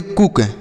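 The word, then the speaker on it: cook: ठीक, जैसे यम से पढ़ेंगे मौ और यन से नौ, डबल ओ का उच्चारण बड़ाऊ की मात्रा यह हो गया मून। सी डबल ओ के, इसे पढ़ेंगे कुक।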